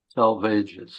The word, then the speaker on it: Salvages: so Tom remind me of the pronunciation of uh the title again yeah the dry salvages salvages okay thank you okay so we are live